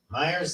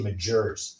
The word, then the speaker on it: Myer: Myers, that I pronounce it? Yeah. I was saying, I want to say Majors. No, Myers.